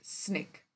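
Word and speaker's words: SNCC: a group called students Nonviolent Coordinating Committee pronounced as snick and that new leader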